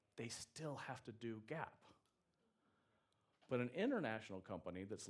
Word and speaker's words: GAAP: So Gap is not the clothing store. For those of you that remember that, the GAP, it's spelled G-A-A-P.